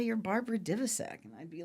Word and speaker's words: Divisek: And she'd say, just say you're Barbara Divisek. And I'd be like, nobody knows how to say Divisek. And I'd call, and it's Barbara Divisek. Oh, okay, Barbara Divisek, I'll call you. It's Divisek.